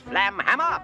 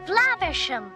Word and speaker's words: Flaversham: Not for long, Miss Flamhammer. Flaversham. Whatever. Yeah, there's a running joke about Basil mispronouncing the last name Flaversham.